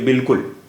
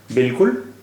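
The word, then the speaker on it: بالکل: जैसे ये देखिए बिल्कुल, बे अलिफ लाम काफ लाम, बिल्कुल, ये बालिकुल नहीं पढ़ेंगे, बिल्कुल पढ़ेंगे।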